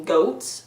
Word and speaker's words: Goths: an army of Goths the original pronunciation of Goths is actually goats which just adds a